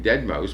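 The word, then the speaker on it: deadmau5: guy he takes the name dead mouse pronounced you know Dead Mouse cuz it's spelled really weird and uh his chat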